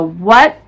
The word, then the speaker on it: what: times vehicle exhausted what nowadays we pronounce what without the h sound so what when where why but how